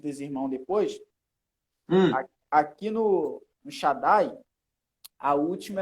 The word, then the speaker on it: Shaddai: Porque tem essa duplicação, só que na hora da pronúncia não é para separar. Isso acontece na divisão silábica. Isso. Na hora da pronúncia, ela dá literalmente, duplica. Igual, Shaddai.